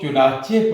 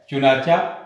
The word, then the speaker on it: چنانچہ: لہذا چونکہ، کیونکہ، چنانچہ، اس کے نیچے زیر ہے، اور اس کو ایسے ہی پڑھنا ہے، اس کو چنانچہ پڑھنا ہے، چنانچہ نہیں پڑھنا۔ تو عزیز طلبہ، آپ